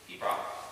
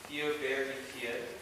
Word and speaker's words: Piobaireachd: So that long word in the title, Piobaireachd, is Pibroch. 2 syllables, not Piobaireachd. Unfortunately, that's the nature of the Gaelic language. It is lots of silent letters.